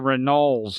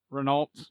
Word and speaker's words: Renault: I didn't like the Rennels at that a period I'm sorry the what Renault yeah with yeah yeah you you mean a Renault yeah yeah they're French it's pronounced differently as a few people